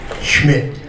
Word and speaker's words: Schmidt: Ron, like everybody else, has a problem pronouncing my last name. Think of the ball player, and for those of you who are old enough, think of the beer. Name is Schmidt.